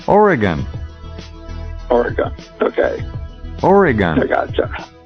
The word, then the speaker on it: Oregon: little fun with you it's not already gone it's Oregon Oregon okay Oregon Oh gotcha it oops alright I couldn't resist okay back in a flash with dr.